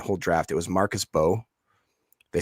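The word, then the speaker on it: Mbow: It was Marcus Bowe. They spell it with an M, MBO. He's from Purdue. Mm-hmm. Apparently it's just Bo, no M. You don't pronounce it. The M is silent.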